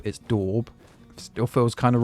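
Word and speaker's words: daub: I apparently I've been saying it wrong. It's not dabb, it's dorb.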